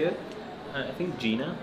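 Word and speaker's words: Jena: I think Gina. Yeah, but you say it like it's a facility. You say it in like almost Arabic. You say Jannah. Gina.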